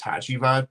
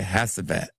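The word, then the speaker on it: Hacivat: It's the same exact breakdown as Hatchad, but it's Oh, that's how you say it. Hey, tell my I used to say it like this. I used to say Hassat has Havoc.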